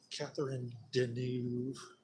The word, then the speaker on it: Catherine Deneuve: stuff in this movie is off the camera Catherine Deneuve that's how you pronounce her name she likes playing around with